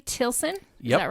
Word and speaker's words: Tilson: Tilson? Yep. Is that right? Or Tilson? That's right. Tilson.